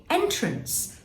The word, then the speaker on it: entrance: a n c e lots of us are going to say entrance the way into something but it can also be used as this word entrance and that means to put something in a trance to put someone in a trance or to delight them okay how about this